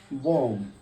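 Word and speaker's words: bomb: প্রথমটা লিখেছি, দেখো, বম। বম মানে হলো বোমা, আমরা এটা জানি সবাই। দেখো, বম, এটা বির উচ্চারণ হয়নি।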